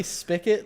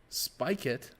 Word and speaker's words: spigot: Do we not say spigot like Kenny Pickett? Spigot? It's spelled, not? It's S-P-I-G-O-T. There's a G. Big ought. Yes, it's spigot.